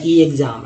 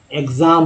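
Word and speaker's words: exam: क्या कहेंगे, एक्सक्यूज, ना कि ऐसे बोलेंगे ई एक्सक्यूज, इस तरह से नहीं बोलते हैं, या ई एग्ज़ाम ऐसा नहीं बोलते हैं। एग्ज़ाम बोलते हैं, एग्जीबिशन बोलते हैं, एग्जिस्ट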